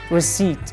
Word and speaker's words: receipt: receive in this word the P letter is not pronounced receipt receipt not received the